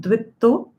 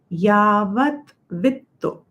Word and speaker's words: यावद्वित्तो: It's not dvitto. Yavat vitto.